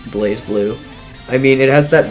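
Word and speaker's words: BlazBlue: __ ] number six Blas blue actually pronounced blaze blue blaze blue actually maybe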